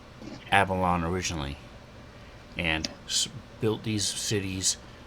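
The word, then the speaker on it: Aballon: And you're saying Avalon and not Absalon, right? Abalon, A-B-A-L-L-O-N.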